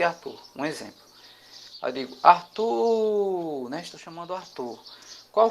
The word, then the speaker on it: Arthur: Qual foi a sílabazinha que se arrastou? Olha, Arthur. Foi a segunda sílaba, né? O tu, certo?